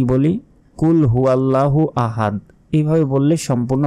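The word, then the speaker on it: قُلْ: আয়াতে আমরা কি বলি কুলহু আল্লাহু আহাদ এভাবে বললে সম্পূর্ণ ভুল হবে কারণ আমরা অনেকেই বাংলা উচ্চারণ দেখে দেখে মুখস্ত করছি এটা করা যাবে না বলতে হবে কুল কুল মোটা করে কুলহু আল্লাহু ল তে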